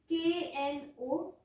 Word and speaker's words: known: K-N-O-W-N. Known. Clear? K remains silent in the pronunciation.